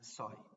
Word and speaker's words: psi: This is written psi, but it's spelled as psi, but said as psi.